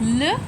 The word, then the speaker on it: le: As you see on the screen, we use l e, which is pronounced as luh, for the masculine nouns.